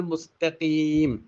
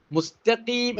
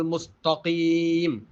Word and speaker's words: المستقيم: ആണ് അടുത്ത അക്ഷരം കാഫാണ് നമ്മളിൽ പലരും ഈ തായിനെ ത്വാഇലേക്ക് മാറ്റി ശബ്ദം കനപ്പിച്ച് ത്വാഹ് ആണ് എന്ന രൂപത്തിൽ ഓതുന്നതായി കാണാം ഉച്ചാരണം കേൾക്കുമ്പോൾ ശബ്ദം കേൾക്കുമ്പോൾ അത് ത്വാഹ് ആയിട്ട് തന്നെ നമുക്ക് കേൾക്കാനും കഴിയും എങ്ങനെ സിറാത്തൽ മുസ്തഫീം മുസ്തഫീം ഇങ്ങനെ കനപ്പിച്ചു ഓതിയാൽ അത് ത്വാ ആയിട്ട് മാറും മാറും യഥാർത്ഥത്തിൽ അവിടെ അലിഫ് ബാഹ്